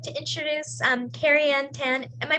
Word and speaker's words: KariAnn Tan: And now I'd like to introduce Carrie Ann Tan. Am I pronouncing your name right?